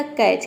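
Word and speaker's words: catch: देख लेते हैं कैच कैच में देखिए सी का हो जाएगा क ए का हो जाएगा ऐ और टी यहां पे साइलेंट है सीच क्या हो जाएगा च टी साइलेंट क्यों है क्योंकि टी के बाद सीच आ रहा है तो रूल यही है कि टी के बाद यदि सीच आता है तो सीच लेटर वहां पे टी लेटर साइलेंट रहता है टी को हम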